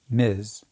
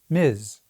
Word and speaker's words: Ms: And they were very clear about the pronunciation. Miz. It wasn't ambiguous. Steinum went on TV, the Dick Cavitt show, 60 Minutes, everywhere, and said it over and over. Miz. The magazine was called Miz Magazine, pronounced Miz. It was a feminist statement.